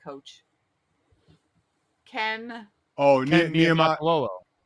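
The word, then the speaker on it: Niumatalolo: How did you pronounce But- the last name of the Navy coach? Ken. Oh, Ken Niamato. Niamatalolo. Niamatalolo, yeah.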